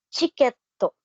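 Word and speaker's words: チケット: again yung ticket okay ay may version sa pronunciation ng Japanese na chiketto kumbaga Okay so isulat natin siya in katakana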